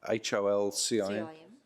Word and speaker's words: Holcim: And I don't know how to pronounce the name of this company, but it's Holcim, H-O-L-C-I-M.